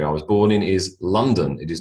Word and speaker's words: London: was born in is London it is not London okay no matter what it looks like l o n d o n it is not o o it is a London London all right Sydney Sydney